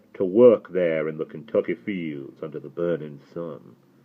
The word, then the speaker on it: Kentucky: and there for there, and pronounced Kentucky as if it was spelled and not as Sandy now did, as though the first three letters were K-I-N.